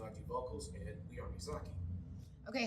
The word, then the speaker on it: Mizaki: play drums I do vocals and we are mizaki okay how do you pronounce it mizaki m i z a k i okay what